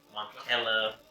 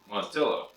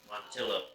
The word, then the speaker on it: Montilla: of our Coopers and Matilla, Spain, Montella, I don't know. I go with that. Pronunciating words is not my, here, you read it. Not my forte. Montilla. Montilla.